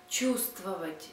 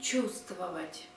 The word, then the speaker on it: чувствовать: Please also take notice that we spell чувствовать with letter V, but we pronounce чувствовать. We don't pronounce V, sound V. Spelling чувствовать, pronunciation чувствовать.